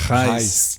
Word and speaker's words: Gijs: O nome, minha mãe não pensou muito numa carreira internacional, porque esse nome se pronuncia certamente só na Holanda. Tipo, nem na Bélgica, nem na Alemanha fala Reis.